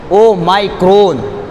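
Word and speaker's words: Omicron: لیں اس کو صحیح انداز میں ادا کریں۔ او مائکرون، اس میں لفظ جو آ رہا ہے اس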